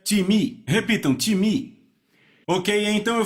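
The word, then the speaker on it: τιμή: vem da palavra grega ti me então soletra-se t i m e em português pronunciamos talvez time não se pronuncia dessa forma em grego se pronuncia te me repitam time Ok então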